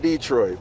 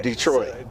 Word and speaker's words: Detroit: Yeah, no, not Detroit, bro. Yeah, Detroit. Detroit. Yeah, so, that accent is on the 2nd syllable.